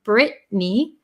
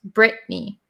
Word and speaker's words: Brittany: So similar to my name, my full name is Brittany. It's pronounced Brittany, but there's actually two T's in there, Brittany. But the vowel sound and the N sound cancel out the T. So it's Brittany, Brittany.